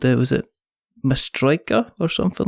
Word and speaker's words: Matryoshka: Did I pronounce the game completely incorrectly? First of all, yes. Maybe a little bit. Matryoshka. Matryoshka.